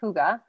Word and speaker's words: Hygge: like it's very hard to pronounce but it's pronounced hygge and it is a blend that everybody who's